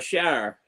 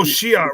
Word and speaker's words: Shi'ar: No, the Shire. Yeah. No, I don't know that name. Or Shi'ar, however you pronounce it. The Empire, Shi'ar Empire. Oh, Shi'ar, right.